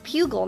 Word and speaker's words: pugil: Pugil, not pube sticks.